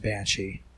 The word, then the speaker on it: Bainsidhe: more like elsie bane cp for example is pronounced banshee gaelic itself isn't helpful